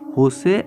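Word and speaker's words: José: ঠিক আছে, নামটা শুনে দেখতে পাচ্ছ অনেকে বলে জোসে আছে, কিন্তু JOSE, এটা জের উচ্চারণ হয়ের মতো হয়, এটা হচ্ছে স্প্যানিশ ভাষা, হোসে অ্যাঞ্জেল গুরিয়া।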